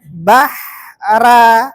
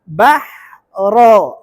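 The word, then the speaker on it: البحر: begitu juga di sini tadi terbacanya bahra bukan bahra Bahro tebal ya Bahro sekali lagi waid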